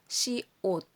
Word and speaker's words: 시옷: Binibigkas itong mium. Ito naman, biup. B ito sa atin. Biup. Tapos, ito naman siya, siot.